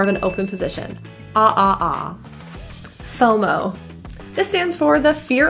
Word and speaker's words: FOMO: I had major fomo both of these O's are pronounced with a rounded lip fomo ghost this means a